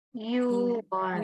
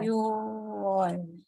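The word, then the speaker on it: 유월: Kalau bulan Juni bacanya jadi Yuwon. Yuwon. Bukan yuk ya, tapi yu.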